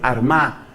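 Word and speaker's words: Armagh: la sede san patricio fue arma que se escribe con gh al final san patricio desde la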